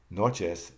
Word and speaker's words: noches: Noches, the accent is on NO.